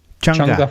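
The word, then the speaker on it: Chang'e: do you say the lander again that's chunga Changa for youngja for oh cool because I didn't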